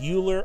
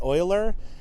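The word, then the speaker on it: Euler: Is is it pronounced Uler or Oiler?" Um, you know, um, I would I would probably pronounce it Uler if I was reading it for the first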